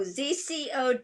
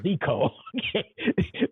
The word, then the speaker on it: ZCO: Is that how you pronounce it? Zico? Oh, ZCO Dance Project. Oh, I thought it Yeah. was Zico.